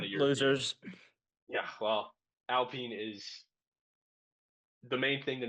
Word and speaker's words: Alpine: So first off, we have the Alpine racing team, spelled like Alpine, but it's Alpine Okay. because they're a bunch of French bastards.